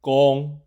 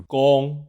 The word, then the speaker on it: 公: The pronunciation of the character "公" is similar to the English word "gone".